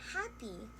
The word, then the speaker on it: happy: hear the word happy, they think that it has a short I sound, as in the word bit, happy. But it's not. It is in fact a long E sound, as in happy, as in hi, I'm so happy today.